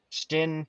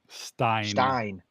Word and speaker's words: Stein: Maddie, how do you say that first name? Stein. Not Stin, Nope. Stein. I thought, yeah. Stein, Spearings. Stein, like a beer stein.